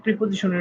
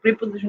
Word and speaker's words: preposition: নির্দিষ্ট কোনো টপিক মানে হচ্ছে মেনলি না, বেসিক প্রিপোজিশনের উপরে। তো সবাই তো হচ্ছে তোমাদের গ্রামার পড়াই, আর গ্রামার তোমরা পড়তে পড়তে পড়তে পড়তে তোমরাও হাঁপাই গেছো। তো হচ্ছে আজকে হচ্ছে বেসিক প্রিপোজিশন নিয়ে আলোচনা করব।